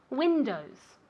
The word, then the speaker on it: windows: My house has 7 windows. How many windows does my house have? No, my house. Ah, how many windows does your house have? Very good. Windows. O. O's. Como si fuera O-U. Windows.